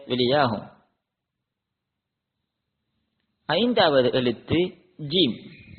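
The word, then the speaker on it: ج: நாங்கள் பார்க்கும் பொழுது அதாவது ஆங்கிலத்தில் நாங்கள் ஜே ஜே எவ்வாறு உச்சரிப்போமோ அதுபோல ஜம்போ ஜெட் இவ்வாறு உச்சரிக்கும் பொழுது இந்த ஜே எவ்வாறு வெளியாகுமோ அதுபோல தமிழில் ஜானா ஜானாவை நாங்கள் பார்க்கும் பொழுது அதை உச்சரிக்கும் பொழுது எவ்வாறு உச்சரிக்கப்படுமோ அதுபோல அரபியில் இந்த ஜீம் உச்சரிக்கப்படும் ஆறாவது எழுத்து ஹே ஹ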